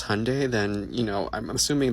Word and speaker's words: Hyundai: our people because Hyundai, pronounced like Sunday, not Hyendai, like you're saying, is a Korean company.